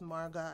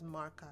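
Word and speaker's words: marqa: It consists of a sauce called, I think there are different dialects for this, but the one I saw people pronounce it as marga. I saw some people pronounce it as marka, M-A-R-Q-A, I believe.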